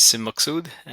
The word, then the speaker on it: Maqsood: My name is Maqsood.